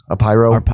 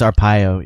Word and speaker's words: Arpaio: Joe Apyro. I think it's Arpaio.